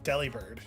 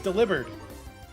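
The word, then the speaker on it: Delibird: were talking about this most people have been saying it wrong apparently it's supposed to be a play on the word delivered yeah it's delivered because it gives you gifts who's out of the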